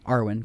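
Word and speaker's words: Arwen: And I I I like kind of pick up my card, the Arwin. Awin, I don't know. Arwin. Arwin.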